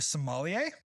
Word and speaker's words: sommelier: Unless you're a sommelier, is somebody saying that right?